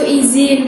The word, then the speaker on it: izin: Jadi semisal aku bilang izin itu juga salah berarti. Iya, yang benar itu izin pakai huruf Z, bukan J.